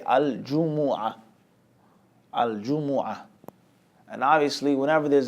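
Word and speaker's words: الجمعة: He says Al-Jumu'ah, the well-known pronunciation, the lugha, the specific style of reciting it and reading it is with a Jumu'ah, with a dhamma vowel sound on the jim, a dhamma vowel sound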